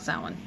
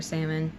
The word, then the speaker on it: Samhain: Year, which is specifically talking about Samhain, or Samhain, Samhain. It really depends on where you are originating from, how you say it.